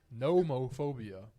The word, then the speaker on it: nomophobia: of these, but this next one we got to be careful with the pronunciation here, brothers. It's nomophobia.